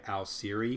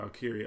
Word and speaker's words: Alciri: Like I go by Alciri. Oh God, I call it Alkiri all the time. It's spelled Alciri, and it was coming from alchemist, Alciri.